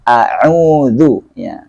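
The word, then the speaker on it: أعوذ: karena dia bacanya Hamzah harus bacanya a'udzu dia in harus jelas kedengaran beda dengan Hamzah kemudian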